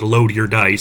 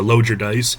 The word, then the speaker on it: Logudice: They talk about how to pronounce it in the book. They say it's pronounced Load Your Dice, so Load Your Dice.